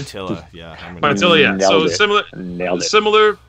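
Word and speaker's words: Pietila: Paitila? Is that how you say his name? Paitila, yeah.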